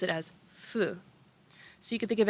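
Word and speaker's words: ふ: here and they are going then we have fu so this is still considered who but more often than not we pronounce it as fu so you could think of it as who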